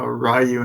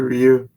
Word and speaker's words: Ryu: people saying uh Rayu instead of Ryu. What's wrong with Ryu? That's the way you're supposed. That's his name, not Rayu. Rayu is not the way you're you pronounce the name.